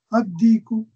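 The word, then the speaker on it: الديك: Ad-Diku. This is a solar letter.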